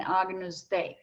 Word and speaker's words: Agnus Dei: First of all, keep those names in mind: Kyrie, Gloria, Credo, Sanctus, and Agnus Dei. Those are the words, that's the pronunciation, and it's all in Latin text.